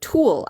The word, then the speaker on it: tulle: And I like that you can see I made this little shaker with some tulle, actually. It's spelled Tulle, is tulle.